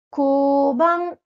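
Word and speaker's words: 交番: Le koban, koban. Pareil que tout à l'heure, j'ai un chapeau sur le haut, donc il faut un petit peu allonger mon son haut.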